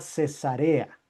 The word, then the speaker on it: Cesarea: refieren a la ciudad, la ciudad se llama cesarea cuando estamos hablando de la ciudad cesarea cuando estamos hablando de que a la mujer se le hace una cesárea, es diferente, ¿no?